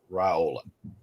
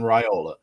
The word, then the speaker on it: Raiola: million people ask me, it's Dylan Raiola. And I had to ask him, I said, how do you pronounce this? Spell it out to me right here. So Dylan Raiola.